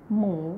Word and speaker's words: หมู: basic people basic learner หมู rising tone is mean the pig or pork หมู with the rising tone นะคะหมู So you can